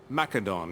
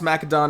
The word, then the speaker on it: Macedon: over a year ago I pronounced mcadon as they pronounced it in this game mcadon not maedon I used to pronounce a Macedon people uh got mad at me for doing that before I had to explain to them the game pronounces it that way so I also say it that way mcadon there we go that's